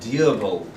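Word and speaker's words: Dyirbal: is Dirbal. I'm very deliberately pronouncing that because if I said it quickly it would sound like gerbil. D-Y-I-R-B-A-L, Dirbal, something like that.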